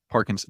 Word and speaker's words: Parkinson's: Parkinson's, P-A-R-K-I-N-S-O-N-S, like Parkinson's disease, but it's not. It's a different guy.